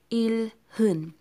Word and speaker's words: 일흔: 70 is 일흔. 일흔. Okay, it's 일흔. But here, sometimes H has no sound. So you can say 일흔.